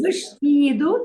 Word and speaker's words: vestido: One of the guidelines of pronunciation, as I will explain later, is that when an S is before a consonant, C, T, it becomes sh. Okay. The sound becomes sh.